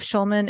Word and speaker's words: Schulman: Schulman is spelled like school, SCH.